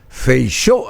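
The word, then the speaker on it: Feijóo: sigue siendo Alberto Núñez feichó así se pronuncia el apellido es un poco raro de pronunciar porque Bueno es un apellido de origen gallego o exactamente admitirle en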